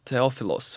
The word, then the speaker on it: Theophilos: So, Christina Theophilos, right? Do I pronounce it correctly? You did.